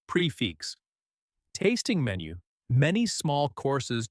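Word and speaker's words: prix fixe: Pronounced prefix.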